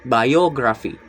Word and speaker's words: biography: The first is biography. The root word is bio and the suffix is graphy. The stress is on the third to last syllables, biography.